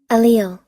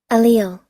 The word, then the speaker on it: allele: Now, I think I know how to pronounce this word, but let me just be sure, because YouTube, the internet is petty. Allele. There you go. So I wouldn't even say that. Allele.